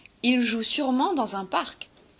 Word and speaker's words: sûrement: Par contre, quand on regarde le deuxième ENT et le deuxième S, le ENT de sûrement appartient à un adverbe.